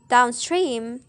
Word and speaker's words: downstream: For example, is in the word downstream. So the primary stress in stream and secondary stress is in down.